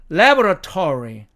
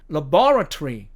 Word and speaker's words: laboratory: 자, 이 두 번째 단어도요, 미국식 액센트로 읽으면 laboratory, laboratory 이렇게 읽히지만 이 말을 영국식 액센트로 읽으면 laboratory, laboratory 이렇게 읽힌다는 얘기입니다.